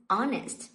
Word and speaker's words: honest: အဲ့လိုလေးထွက်ပါမယ်နောက်တစ်ခု honest ဒီမှာ honest ဆိုတာရိုးသားပေါ့နော်ရိုးသားတဲ့လူပေါ့ဆိုတော့ဒီမှာလည်းအဲ့လိုပဲတီချယ်တို့ကဒီအသံကိုသိမထားဘူးမြင်တယ်ဟုတ်ပြီ H ကခွင့်ဆိုမယ်ဟေ့ဆိုပြီးတော့ Aသွားရေးလို့မရပါဘူးသူ့ရဲ့အသံသိတာမှအဆင်ပြေပါမယ် honest အဲ့ဒီအတွက်ကြောင့်မို့လို့ honest အမ်တွေနဲ့စတာဖြစ်တဲ့အတွက်ကြောင့် ကြောင့်မို့လို့ AN ထည့်ရပါမယ်။ and honest